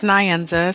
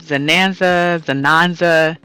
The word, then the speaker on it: Nzanaza: I have heard everything from Nzanaza, Zananza, and not as often I do hear. Where came from is beyond my understanding, as there are no D's in my name.